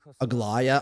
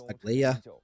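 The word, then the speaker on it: Aglaea: Instead of Aglaya, I thought it was Aglia.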